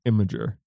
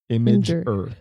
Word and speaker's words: Imgur: But I think it's pronounced Imager. Imager, because it's images.